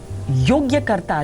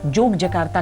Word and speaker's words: Yogyakarta: योग्यकर्ता, जिसे स्थानीय उच्चारण के साथ जोगजकार्ता कहा जाता है, ये अयोध्या का दूसरा नाम है।